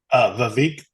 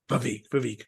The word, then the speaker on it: Vivek: And his first name, how do you pronounce it? Vivek. Vivek.